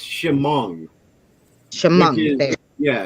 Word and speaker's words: Chemung: It's Chemung, which Chemung.